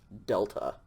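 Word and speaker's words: δέλτα: there we go okay delta like dog dog next letter is called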